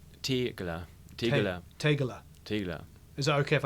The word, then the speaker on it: Tegeler: It's Tegeler Audiomanufaktur. Tegeler. Mit Tegeler. I. Tegeler. Tegeler. Is that okay if I say Tegeler? Yeah, it's okay. Close enough. It's between I and E.